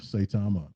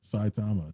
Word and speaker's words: Saitama: basic question of the pronunciation of saitama or saitama depending on where you stand and it's not as